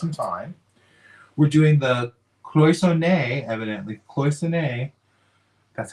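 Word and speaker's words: cloisonné: We're doing the cloisonne, evidently. Cloisonne. That's how you pronounce it.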